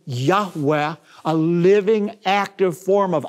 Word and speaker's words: Yahweh: god of Israel which most Semitic scholars believe is pronounced a breathy Yahweh a living active form